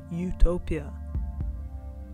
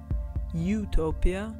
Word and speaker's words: Utopia: The prefix could be pronounced two different ways, so it could mean two things. Utopia, a good place, or utopia, no place.